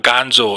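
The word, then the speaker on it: gonzo: 그런데 영어에서도 건조가 있어요 예쁜 영어식 발음은 곤조가 아니고 깐 조 이렇게 이제 표현이 됩니다 회유가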